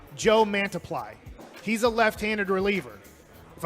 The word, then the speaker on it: Mantiply: t p l y it's like when you have one thing and one almost multiply but we're mantiply here okay multiple men much